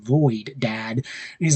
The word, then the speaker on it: Lloyd: There's a great scene where Garmadon is like, "La Lloyd," and Lloyd's like, "No, it's pronounced Lloyd, Dad."